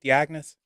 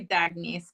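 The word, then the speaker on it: D'Agnese: could say gifted abilities I say your last name right dagnes it's actually dages but that's okay this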